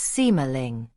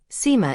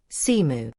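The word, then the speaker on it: Sima: It is not pronounced simu. Instead, the first syllable rhymes, roughly speaking, with the English word uh the second syllable roughly rhymes with more. So together, it's sort of like sumo.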